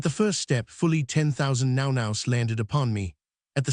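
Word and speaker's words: nau: In the native they are called the now which is pronounced now.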